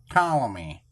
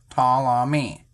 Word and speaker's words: Ptolemy: Ptolemy, he pronounced. Ptolemy. It's silent P.